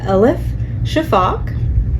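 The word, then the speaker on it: Elif Shafak: right there are rivers in the Sky by El Shaak very good yes I I had to Google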